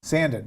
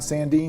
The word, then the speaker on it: Sandin: Sandin, like Sandin, not Sandine, Sandin.